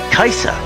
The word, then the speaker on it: Kaisa: Kaisa, that's how it's pronounced.